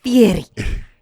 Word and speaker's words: Fieri: My mom refuses to say his name in like an American way. She's like, it's Fieri. Well, she speaks Italian really well.